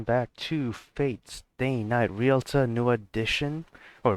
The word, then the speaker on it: Realta Nua: Alright, welcome back to Fate's Day Night Realta Nua Edition, or Real Nuta, or Realta Nua Ultimate Edition, there you go.